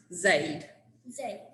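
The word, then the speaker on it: זֵד: got I got so the um Hebrew word it's z d which is actually pronounced Zade Zade and strong says that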